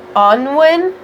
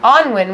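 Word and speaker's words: Annwn: and having this cauldron and having her own Onwin. Yes. Is that how you say it? Yeah, Onwin, which in Celtic belief system, Onwin is kind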